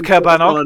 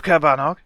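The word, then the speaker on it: Caerbannog: horse, killer rabbit of Cabanog, big dog, bear, Polly, book, K. Faraday. Are we sure That it's is not correct. Chernabog? I'm fairly certain. I think they pronounce it as Cabanog in the movie.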